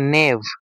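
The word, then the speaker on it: knave: কে কিন্তু উচ্চারণ হয় না। কে ওখানে উজ্য থাকবে। শুধু উচ্চারণ হবে কি? নেভ। এটা হচ্ছে সাইলেন্ট। নেভ যেটা এর মানে হচ্ছে ডিসঅনেস্ট পারসন।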